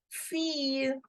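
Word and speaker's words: fille: between i and e so we will simply pronounce it as fear fear for girl and daughter and boy simply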